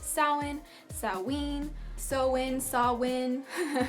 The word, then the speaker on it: Samhain: but it's commonly pronounced soin salween so in saw Wynne saw tween it's just like all over the place and it's not pronounced how it's spelled so just just so